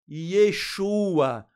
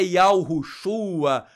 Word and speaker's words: Yeshua: Poxa, primeiro que os manuscritos em hebraico e em aramaico, o nome do Mashiach é Yeshua. Não é Yehoshua, não é Yahushua, né?